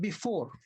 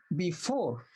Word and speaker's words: before: When you read before, do you put stress on the B or the 4? Of course, you put stress on the 4, right? You say before, not before.